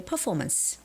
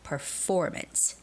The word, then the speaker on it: performance: I could imagine some people say performance, performance. But actually, the word has stress on the second syllable. So, it's got to be performance, performance, performance.